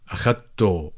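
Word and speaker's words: أخدته: In fact, in dialects, people tend to write it with h, but they tend to pronounce it as an u, like akhadto, I took him, akhadto.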